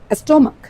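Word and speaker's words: stomach: ক এর মতো একটা শব্দ হলো স্টোমাক। স্টোমাক মানে কি, পেট, পাকস্থলী। স্টোমাক, স্টোমাক, স্টোমাক, ক। দেখো স্টোমাক, স্টোমাক মানে পেটস্থলী, স্টোমাক লাস্টের এই যে সিএইচ, স্টোমাক, খ লাস্টের সিএইচটা ক, কিন্তু চার্চের চার্চ, চ, চার্চ।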